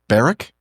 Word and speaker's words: Berwick: let me start over baric baric yeah baric so the W is silent then it is okay